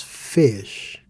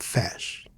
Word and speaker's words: fez: So, why does fish sounds like fish and not fash? It's just one syllable. Shouldn't it be open, fash?